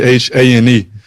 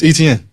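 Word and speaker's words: Etienne: Okay, so it growing up it Travis Han. So it be like a c h a ne. Uh and that's how you always said Travis Han. Uh but when I went to college uh I kept telling my telling them my name like every day every day every day. And like after like four weeks they just couldn't get it. So I'm like man it's ETN like how you say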